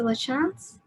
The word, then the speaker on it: Lachance: speaker tonight is lachance am i pronouncing your name right it's a lachanze lachance okay um originating from the